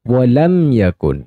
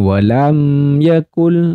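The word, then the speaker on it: ولم يكن: selanjutnya Wam Yakun nah kesalahannya tadi sama nih walam Yakul Nah itu kurang tepat karena di sini tadi hukum mim sukun bertemu dengan Ya Termasuk dengan izhar syafawi maka mim sukunnya dibaca jelas Wam Yakun lahu Wam Yakun nah seperti itu oke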